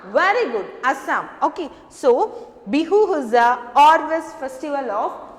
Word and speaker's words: Bihu: Pronounce it Bihu.